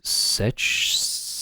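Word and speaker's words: Sech: um but I believe his username is such Studios oh like sexy Studios but it's spelled s e c h uh I believe I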